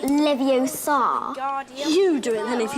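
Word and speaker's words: Leviosa: you're saying it wrong it's Levi Oar not Levi Oar you do it then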